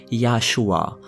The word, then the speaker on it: Yahshua: Mais l'Église n'a pas changé que l'orthographe et a surtout changé la prononciation, puisque la prononciation originale aurait été Yahshua.